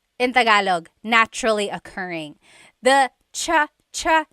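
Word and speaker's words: tsa: Cha in Tagalog is T like the tea that you drink. And it's spelled T S A. Cha. Cha. That's such a Tagalog spelling. I love it. There's the TS sound and then the double vowel uh pronunciation.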